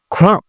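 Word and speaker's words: crumb: তারপর পি কে বাংলায় আমরা ফ এর মতো করে ব্রিটিশরা, নেটিভ যারা আছে এরা উচ্চারণ করে। তবে ব্যতিক্রম তো আছেই, সেটা বাদে আর কি। ওকে, ক্লাইম, উঠা। ক্রাম, ক্রাম, টুকরো টুকরো করা।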